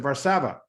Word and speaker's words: Varsava: As he corrected me earlier, the accent is on the second A. From up in Canada. Mr. Varsava, tell us how things are going over there.